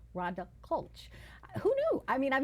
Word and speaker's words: Klch: never known How to pronounce her last name it's spelled klch H but it's ronda colulch Who knew I mean I've known her for